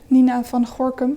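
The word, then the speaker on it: Nina van Gorkom: scholarly this um woman Nina van Goram I'm trying to pronounce it in an English way but she's Dutch Nina vham in Dutch uh she lives I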